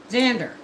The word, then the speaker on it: Xander: You pronounce the X as a Z, right? Xander.